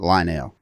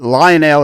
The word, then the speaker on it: Lionel: before we go on it's Lionel not line now line it Lionel is the train's Lionel as thing there okay carry on yeah I got that lecture long okay it's not three syllables it's just all run together do it with a